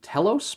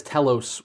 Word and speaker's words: Telos: that is that is Telos with a e if I'm pronouncing that correctly t-e-l-o-s not to be confused with Talos t-a-l-o-s which is US publisher that published